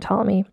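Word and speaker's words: Ptolemy: p at the beginning so it's like pterodactyl and it's hard for me to not say the p t tomm me the 14th so she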